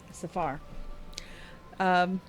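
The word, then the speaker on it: Safahr: and it bothers me and they have a pronunciation guide vajra saphir safar vajra invites felix to join the gray hands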